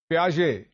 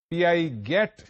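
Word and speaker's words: Piaget: कीजिएगा प्रोनंसिएशन में और इसका दूसरा नाम है इस बुजुर्ग शख्सियत का जो फौत हो चुके हैं प्याजे पी आई ए जी ई T written as पीआई गेट but pronounced as प्याजे ये तालीमी नसिया का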